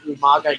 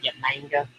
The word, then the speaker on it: Umaga: Remember when William Regal used to call Umaga Yamanga back in the day? Yamanga. Funny. Just a little funny. William Regal couldn't pronounce Umaga.